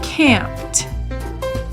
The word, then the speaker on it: camped: Camped ends with the t sound as well.